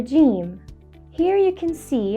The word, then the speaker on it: جيم: Jeem is easy to pronounce and detect because it's identical to the English letter J, as in jump or join, and it only functions as a consonant letter.